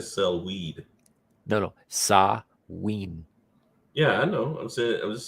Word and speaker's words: Samhain: Samuel phobia. No, it's actually, because it's Celtic, it's not pronounced anything like it's spelled. It's Samhain. Yeah, I know. It almost sounds like you said sell weed. No, Samhain.